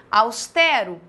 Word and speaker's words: austero: Austero, paroxítona.